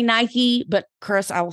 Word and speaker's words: Nike: talking about workout shoes I said Nike and she was like no girl it's Nike and she's like I live in the Pacific Northwest that's where their headquarters that's not how you say it and I was like